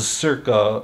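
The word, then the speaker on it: Czerka: mean Benjamin the circus Circo Corporation you see how it's spelled like c-z-e-r-k-a yeah so um in in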